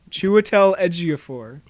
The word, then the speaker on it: Chiwetel Ejiofor: would tell Ejiofor is gonna be skull gun Chiwetel Ejiofor which i believe is how you pronounce it stop making me second-guess it he